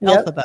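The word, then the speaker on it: Elphaba: Nate, uh, who you pulled off of Fel Alphaba. I can never say it right. Alphaba, correct?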